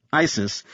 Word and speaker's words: ICIS: Jonathan recognized ICIS, pronounced ISIS, as a post 911 program that documented ongoing